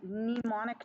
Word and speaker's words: mnemonic: to learn a little mnemonic device the word meme the m is silent mnemonic neem a mnemonic